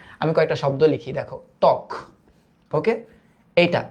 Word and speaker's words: ত্বক: বফলা যদি শুরুতে থাকে উচ্চারণটা হয় না। ত্বক, এটার উচ্চারণটা হইল ত্বক, সরি ত্বক, এটার উচ্চারণটা হইল স্বাধীন, স্বাধীন।